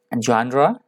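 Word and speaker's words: genre: अगला हमारा शब्द है जॉनरा। प्रोनाउंसिएशन एक बार दोबारा सुन लीजिएगा, जॉनरा।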